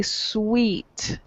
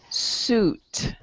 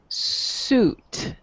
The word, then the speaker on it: suit: i'm hearing you say sweet okay but it's actually pronounced the ui it sounds like ooh ooh suit suit you try try that